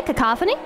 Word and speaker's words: cacophony: actually how you say cacophony listen chat it's just hard emphasis on second syllable yes but I've heard